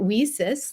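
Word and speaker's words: WiCyS: go by our acronym whisis it's spelled w-i-c-y-s and we pronounce that whisis like we sisters because that's exactly what we are we are a global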